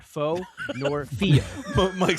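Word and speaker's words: Pho: I believe it's fah. Andy and Steven are correct. It is fah. One syllable Vietnamese rhymes with doc. Not foe nor fee.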